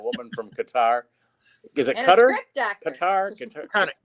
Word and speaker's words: Qatar: Oh, just working on the play gig with the lady from Qatar, and we're trying to get that thing going.